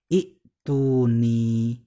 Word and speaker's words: اءتوني: Nah, sehingga kalau sudah seperti itu, maka dari kalimat itiuni menjadi ituni. Nah, sekarang kalimat ituni ya, kan tadi kan cara membacanya ituni.